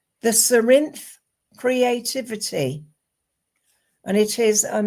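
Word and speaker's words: Cerinthe: express my creativity but it's called the serin and it's spelled c e r i n t h e so you can Google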